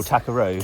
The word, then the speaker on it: Tackeroo: Oh, Takaroo.